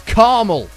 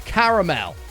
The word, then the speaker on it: caramel: I'm sorry to the Americans that unfortunately get pulled into this but Americans say that word as car camel which is the stupidest word ever. It's caramel.